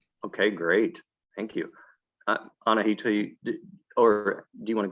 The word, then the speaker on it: Anahita: second day there you go um hi i'm anahita i graduated from usc last year um don